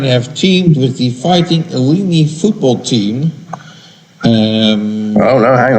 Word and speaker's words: Illini: Again, Stern have teamed with the Fighting Illini football team. Oh, no, hang on. I've got to correct you, because I was correcting myself last time, but I pronounced it like that. It's pronounced Illini.